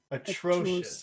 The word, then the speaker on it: atrocious: Which syllable has all of the power? Atro- atro- atrocious.